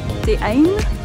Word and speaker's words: Dhee Ayn: We ran into a local who said to pronounce it Dhee Ayn.